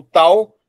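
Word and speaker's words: τ: Esse é o T grego, tá? O tal, tá? Equivalência ao T na palavra ter, né?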